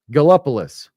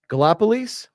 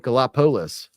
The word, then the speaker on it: Gallipolis: If it's really pronounced Gallipolis, right, then this is not the proper phonetic way to put that. if it's pronounced Gallipolis. That would be Lees, right? Not Lis.